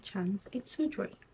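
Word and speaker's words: Chance Tendre: I don't know how to pronounce it, but this is the way it's supposed to be pronounced. So Chanel Chance Toudre.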